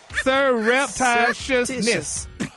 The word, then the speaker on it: surreptitiousness: Surreptitiousness. No reptiles. No reptiles in this, Gary. Surreptitious. It's Sir. S-I-R. Yeah. It's S-U-R. Sir. R-E-P. Yep. T-I-T-I. Shus. S-H-U-S. Yes. Okay, N-E-S-S. put it together. Surreptitiousness.